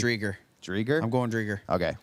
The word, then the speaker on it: Driedger: if you can give us a report on how to pronounce Chris Driedger's last name correctly. I think it's Driedger.